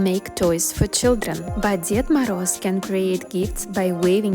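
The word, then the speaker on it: Дед Мороз: we say in Russia, Ded Moroz. When I say this, most of Americans, they are a little bit confused. They say is he dead? No, guys, he's alive, but it's pronounced like Ded Moroz, Grandfather Frost.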